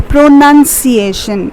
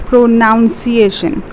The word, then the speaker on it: pronunciation: Now see, there is no O present over here, so it will be spelled as pronunciation. You don't call it as pronunciation.